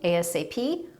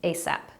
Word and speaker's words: ASAP: can use it either as an initialism ASAP or as an acronym ASAP now that you know